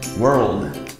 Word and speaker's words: world: all right so first in the general American the pronunciation is the most difficult one for this word the pronunciation is world world world it is difficult because if you have two difficult sounds to pronounce practically at the same time that's why you get so difficult so we have the Earl Earl Earl world you can practice it